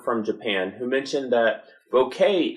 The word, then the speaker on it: bokeh: Japan who mentioned that bokeh is how it's pronounced in most regions. Certain regions will add a higher pitch Y on the end of it, but according to that video, that is the correct pronunciation. So I'm going to stick with bokeh.